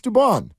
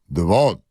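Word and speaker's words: Dubón: do you say it he goes it's duban I go how's Mom say oh goes Devon I'm like well what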